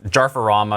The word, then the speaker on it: jarferama: And you can find Kevin at at it's jarama. That's how you pronounce it.